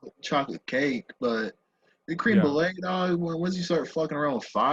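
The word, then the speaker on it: crème brûlée: to be a dick do you think it's actually called cream brulee because that's not that's that's not what it's called do you want to know how to say it sure it's called it's called creme brulee because it's french like french crema like creme brulee like that right but i like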